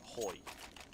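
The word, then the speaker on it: Hui: I have been informed, by the way, I think it's Mr. Hoy. We've been pronouncing it purely in English, but obviously of Oriental descent. So right, H-U-I. yeah, it's the way the language works.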